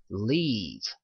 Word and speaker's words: leave: 자, 요건 같은 경우에는 li가 있기 때문에 li라고 발음하면 되는데 가운데 점 땡땡 있죠? 이거 같은 경우는 길게 발음을 해주라는 얘기입니다. 그래서 leave 이렇게 발음을 했고요.